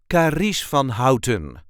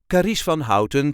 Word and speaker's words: Carice van Houten: Fon Kish F hon there is a light emphasis on the second part of the first name and the first part of the second name Kish van hon K Van howon karish van hton karish van hton played